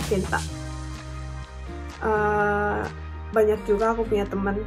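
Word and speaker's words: 健太: Kenta itu kanjinya kenko no ken to futoru no futo no kanji desu. Jadi dibacanya Kenta.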